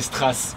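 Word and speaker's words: Straße: Ah, c'est Strasse, moi j'appelais ça Street. Strasse, parce que Street, c'est, ça serait en Angleterre ou aux États-Unis, ouais, ou au ça, Canada, ouais.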